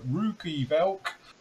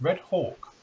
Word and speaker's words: Red Hawk: with the other day you say uh rookie belk uh roy bulk yes it's red hawk i must admit the